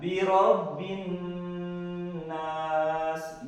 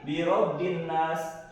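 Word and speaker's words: بِرَبِّ النَّاسِ: Cara membacanya ditekan. Ditekannya berapa lama? Satu alif, Pak. Satu alif atau dua harakat. Contohnya bagaimana? Birobbin nas, birobbin, tekan dulu ya. Jangan kita ucapkan seperti ini, birobbin nas, tidak boleh. Karena ini menghilangkan dari huruf atau hukum tajwidnya. Oke.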